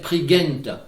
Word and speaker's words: Prigent: Et un petit mot sur Dénès Prigent, qui est maintenant très connu, dont, comme il le dit, la bonne prononciation devrait être Prigent.